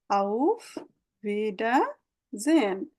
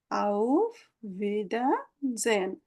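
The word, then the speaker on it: Auf Wiedersehen: তো ফ্রেন্ডদের ক্ষেত্রে আমরা বলবো, আর অফিসিয়ালি আউফ ভিডা জেন। যখন বড় কোনো শব্দ আসবে আমরা অল্প অল্প করে পড়বো। আউফ ভিডা জেন, আউফ ভিডা জেন।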